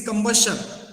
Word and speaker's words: combustion: Now see, only one word you have mispronounced due to combustion of coal, right? It is combustion.